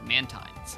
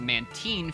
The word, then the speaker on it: Mantine: Many people wonder if it's pronounced Mantine for Manta and Marine, or Mantine for Manta and Brine. However, this is especially confusing when the name is pronounced both ways in anime.